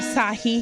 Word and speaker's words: Sahi: I have Sahi here. Did I say it right? Yes.